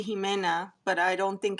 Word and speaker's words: Ximena: Ximena. I want to say Jimena, but I don't think it's The Jimena. X is like a she. Oh, Ximena? Yeah. Yeah. Ximena. Pixi is like she, right?